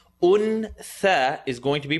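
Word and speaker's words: أنثى: Untha is going to be pronounced untha. Tongue not touch is going to be pronounced untha. وَمَا خَلَقَ الذَّكَرَ وَالْأُنثَى. Remember the oo, remember the cool sound.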